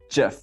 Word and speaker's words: GIF: He just put up this like massive presentation and it says, you say it GIF with a J, not a G.